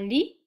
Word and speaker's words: lit: Un bureau, un lit, and don't pronounce the T, it's silent.